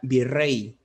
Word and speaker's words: virrey: como agudas por ejemplo la palabra virrey es una palabra cuya tónica está en la última sílaba pero ésta no se tilde las palabras graves las